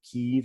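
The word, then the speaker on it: Kyiv: the 9th century, or Kiev, I believe, Kiev is the Russian pronunciation, and Kiev, I believe, is the Ukrainian pronunciation, but they both, I guess, technically would work.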